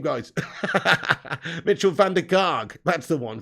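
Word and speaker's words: Mitchel van der Gaag: his name guys mitchell van der karg that's the one fandy karg van dyke to rhyme with ten hog that's the one so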